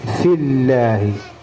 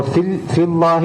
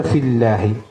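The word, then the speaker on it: فِي اللَّهِ: മൻ യുജാദിലു ഫില്ലാഹി, ഫില്ലാഹി അള്ളാഹു എന്ന ഇസ്മു ജലാലിന്റെ മുമ്പിൽ കെസറ് വന്നാൽ അല്ല എന്നാണ് ഉച്ചരിക്കുക. നമുക്കറിയാലോ ബിസ്മില്ല എന്നൊക്കെ പറഞ്ഞു. അപ്പൊ ഫില്ലാഹി എന്ന് ഓതാൻ പാടില്ല, ഫില്ലാഹി.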